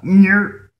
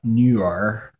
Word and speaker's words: 女儿: Daughter, except he said "nyer," but I think the more correct way would be "newer." Newer. I think he just said it too fast. He kind of put those two sounds together. Should be 2 syllables.